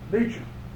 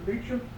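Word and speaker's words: Beauchamp: I spoke up and says, what is it, your name? Beecham. Now this is out in Pocatello, Idaho. I said, I'd like to try it. Do you spell it B-A-U-C-H-A-M-P? You're the only so-and-so and so-and-so and so that's ever spell that name right.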